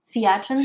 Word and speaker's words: Siachen: Siachen, that's how you say it. Excuse me. The Siachen Glacier. That's a Hindi pronunciation.